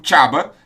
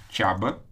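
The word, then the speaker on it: Csaba: Drácula e a Transilvânia como Hulk, porque o Chaba, né, que se escreve assim, caso você queira procurar, Chaba, C-S-A-B-A.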